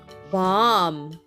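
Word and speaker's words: balm: c the boat sailed on a c c Bomb b a l m let's spell the word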